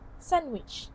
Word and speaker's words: sandwich: So here there is an illusion observed the D sound is omitted in between the N and W sound. The cluster is simplified which often happens in casual or rapid speech. It may also reflect mimicry of native pronunciation habits. So hence that is why it becomes sandwich instead of pronouncing the d sound.